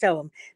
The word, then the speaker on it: Ogham: Under this, we have Olam, which people think is pronounced Ogham, O-G-H-A-M, but it's pronounced Olam, the script of the ancient Druids of Ireland.